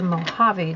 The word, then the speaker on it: Mojave: so this is the mojave desert and it is spelled m o j k v e javi so the J the Hut sound I remember learning the